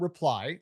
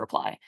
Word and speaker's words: RPLY: Let's talk about reply. Um it's spelled RPLY and you guys call it kind of a unified messaging platform to help people survive their text message inbox.